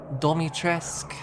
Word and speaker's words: Dimitrescu: But, oh god, could I do Lady Dimitrescu? Domitrescu, as she pronounces it.